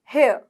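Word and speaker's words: hair: भी होता ठीक है हेयर हेर हेर हेयर मैंने आपको कहा है जब आर की साउंड आर एंड में आए तो उसको साइलेंट कर दीजिए हेयर हेयर हेयर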